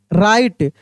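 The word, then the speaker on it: write: जैसे डब्ल्यू आर आई टी ई राइट pattern यही याद रखिएगा। डब्ल्यू R equal to आर यानी डब्ल्यू साइलेंट केवल आर का उच्चारण होगा।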